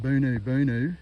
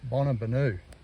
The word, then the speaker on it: Bonabanu: you would pronounce that I would pronounce that Bonu Bonu Hotel, but it's Bonabanu and that is coming from an indigenous elder I've been talking to from the area.